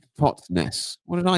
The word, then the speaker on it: Totnes: So it's pronounced Totnes.